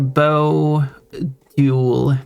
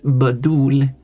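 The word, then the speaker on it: 바둑: That's not how we pronounce it. This letter in English is written this way. So it's B. This is B. And this is that sound again, which English doesn't really have. So you can simplify it till. So this is, if we want to simplify it with English sounds, this is badul. So badul. But it's more like badul.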